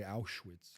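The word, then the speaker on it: Auschwitz: But um how do you pronounce I always mix it. Is it Alswitch? Like how do you Oshwitz? Oswitch. Okay. Jewish people would say Awitz.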